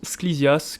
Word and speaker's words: Sklisias: Sur mon compte Sklizias, qui s'écrit comme il se prononce, S-K-L-I-S-I-A-S.